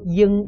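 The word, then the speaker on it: 罂: 下面那个字读作鹰啊，读作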